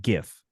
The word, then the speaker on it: GIF: Well, if it's a soft G is how he's saying it, then GIF would be correct because think about like giraffe, giraffe.